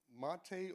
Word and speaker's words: MATE: into Cinnamon, GNOME, KDE, Mate or Mate, however you want to pronounce it, XFCE, and my favorite,